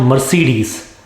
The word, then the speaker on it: Mercedes: evil people harass others it is not mercedes i would like to drive a mercedes mercedes now an interesting point here is that there are three e's and each e is pronounced differently mercedes mer say these mercedes next word it is